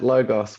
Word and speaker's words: logos: Are you talking about logos? I am very good. Logos. I don't remember how to say it. No, you said that right. Logos.